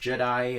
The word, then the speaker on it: Jedi: You don't say Jedis, so you say Jedi anyway.